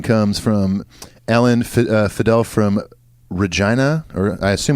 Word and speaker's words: Regina: I always feel uncomfortable saying Regina. I know it looks like Regina, like the woman's name, but there are cities around the country named Regina.